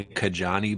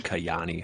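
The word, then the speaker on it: Kajaani: go to K I I say Kajjani, but it's probably Kayani, huh? Is that how you pronounce it?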